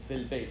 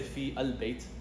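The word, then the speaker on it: في البيت: Fil bayt. So you see, we didn't pronounce this right here because it's Hamzatul Wasl. We didn't pronounce this one. We didn't say fi al bayt. We said fil bayt.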